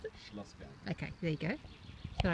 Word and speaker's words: Schlossberg: How do you pronounce it? Schlossberg.